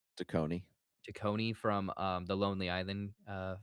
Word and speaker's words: Taccone: Tacony.